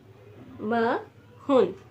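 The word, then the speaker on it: 마흔: 40 40 को हम लोग कहते हैं मन म हुन इकट्ठा करके इसलिए मन एन नहीं ठीक है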